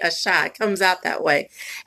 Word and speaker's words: Asha: She says her name is pronounced Asha, but I say Asha.